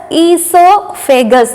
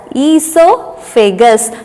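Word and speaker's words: oesophagus: it is called as esophagus there is supposed to be a o before e okay o is silent so e so figgis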